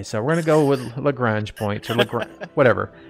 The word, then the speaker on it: Lagrange: looking at this technique it's called Lorraine's points Lagrange points there you leave that's the correct pronunciation I could be wrong no no you're absolutely right I just can't speak today so we're gonna go with Lagrange points on the graph whatever you said it